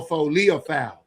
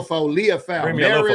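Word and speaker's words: Liufau: Not Leo, Leopoul. Yeah, not Leo, not Lo, Leafoul. Go ahead. Yeah, Maris Leaf. Let's see. I think I got I think I got Yeah, Maris Leafoul.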